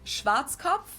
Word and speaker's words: Schwarzkopf: In German, we pronounce it Schwarzkopf, which literally means black head.